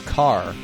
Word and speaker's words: char: a good open-ended question do you all say Char or car for this four-letter string how do y'all pronounce it first way Char yeah ditto I do I do Char but I've definitely met people that say car and that weirds